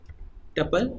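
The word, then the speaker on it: tuple: तो यहाँ पे अगर मैं कोई भी लाइक L1 या T1, टपल या ट्यूपल भी लोग उसको प्रोनाउंस करते हैं, इसकी पहचान क्या है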